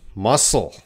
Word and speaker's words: muscle: That'd be muscle. Muscle. Grace. The G. So Grace's example here, assignment. The G is silent.